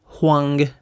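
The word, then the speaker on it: Huang: y sus tres hijos ojo es el viejo juang con h y g h inicial G final no es el viejo Juan eh Por si siente como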